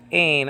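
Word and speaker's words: ἦν: But the H-looking letter is really an E vowel, like in the word they in biblical Greek. So it's pronounced ain, and that means was.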